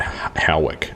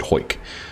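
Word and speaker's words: Hawick: It's spelled Howick, H-O-W-I-C-K, or Harwick, H-A-W, but it's said Hoyk.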